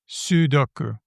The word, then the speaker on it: sudoku: Sudoku. And it's got an U at the Sudoku. beginning. So I do believe that the first syllable is the one that gets the stress.